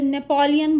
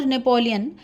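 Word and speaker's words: Napoléon: So next we talk about नेपोलियन Bonaparte in English we used to से इट नेपोलियन बट in French it इज़ नेपोलियो। नेपोलियो नेज़लाइज़्ड sound होगी बट N silent होगा। इट इज़ नॉट नेपोलियन।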